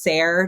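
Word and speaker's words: SARE: And just for clarification, I'm I think the e tends to be silent, so I've always heard it pronounced sir.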